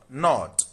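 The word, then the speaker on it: knot: So 20 we have not. Not. The underlying sound is N. The K is silent.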